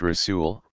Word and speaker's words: rasul: Rasul, pronounced Rasul, one who is sent.